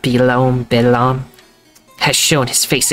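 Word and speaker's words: Belome: beone or rather whatever that means that's pronounced belom bam has shown his face again Mario clone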